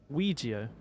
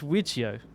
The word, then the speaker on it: Ouija: but short answer no Ouija that's like who says wichio like is that like some sort of Eastern European pronunciation Ouija I don't even know who would say wiggio who would say that foreign excuse me I